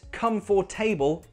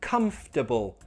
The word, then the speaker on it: comfortable: This word, not comfortable, no, it's comfortable, comfortable, comfortable. Push it together, comfortable.